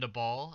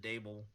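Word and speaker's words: Daboll: head coach Brian DeBall, I believe is how you pronounce his last name, I think I have actually heard it said Dable, but or Dable. Or I thought at first it was DeBool, but anyways, Brian Dabble, getting the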